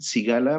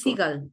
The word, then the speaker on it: Siegel: Daniel Sigala, me comentaste el Daniel autor. Siegel. Ujú. Se escribe Siegel.